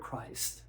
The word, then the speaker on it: Christ: And when we think of the word Christ, we have cra and we have iced.